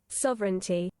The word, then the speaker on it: sovereignty: Sovereignty. Okay, sovereignty. Okay. I was trying to like make the e sound in there, but yeah, it doesn't really.